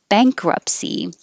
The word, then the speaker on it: bankruptcy: can be the now bankruptcy we don't say the t it just takes too much time bankruptcy bankrupt is weird